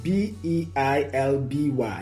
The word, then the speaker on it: Beilby: The name Belby is Belby is Beilby. Beilby.